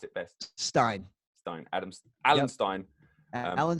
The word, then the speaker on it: Stein: your second name Stein Steen how do you pronounce it best Stein Stein Addams Allen Stein Alan Stein jr.